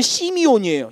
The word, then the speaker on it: 시므온: 33절에 보면 둘째 아들 시므온이라는 이름이 나오는데요. 히브리어 원래 발음으로는 시미온이에요.